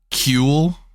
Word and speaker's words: Kewl: And that just means, well, how do you pronounce that word, actually? Cool.